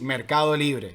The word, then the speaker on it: Mercado Libre: In Spanish, we say the correct pronunciation of the name of this company is Mercado Libre.